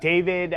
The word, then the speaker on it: D4VD: And I know he spells his name D4VD, but it is pronounced David, correct? Correct. David that's how it's stylized, but David Burke.